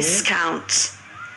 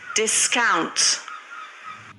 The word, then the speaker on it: discount: तो हम इसे कैसे प्रोनाउंस करेंगे? देखो यहाँ पर एज ए नाउन और यहाँ पर एज ए वर्ब। तो आप क्या कहने वाले यहाँ पर? आप कहेंगे discount, discount, दोबारा फिर सुनो।